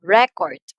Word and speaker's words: record: right so pansy nino record so which syllable has a louder pronunciation record so we're talking about the noun here record so the first syllable receives the first stress since it's a noun